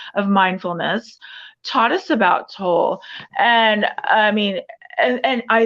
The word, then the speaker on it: Tolle: And that's where, and it's pronounced Toll, not Tolle. I've mispronounced his name.